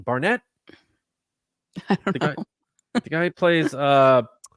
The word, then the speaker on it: Barnett: It is Charlie Barnett.